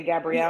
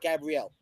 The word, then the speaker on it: Gabriel: Say Gabrielle. I don't know the name. She said Gabrielle. She kept saying it. Gabrielle. He's like it's it's Gabriel.